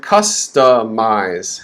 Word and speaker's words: customize: see two stresses uh this word customize has three syllables the first syllable is stress cuss cuss and then the next one ta is reduced and then the third syllable is stress but it's less stress we call that minor stress so up right